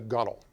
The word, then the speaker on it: gunwale: on what's called the gunnel it's it's spelled gunwale but in nautical we pronounce it the gunnel that's the sides of